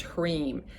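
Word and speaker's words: hrim: is harim spelled h-r-h-r-e-e-m and pronounced sorry h-r-i-m pronounced hreem and literally all you need to do you can do it with ohms and i'll just sing it a couple times for you if you hareem chanting that will invoke all of these things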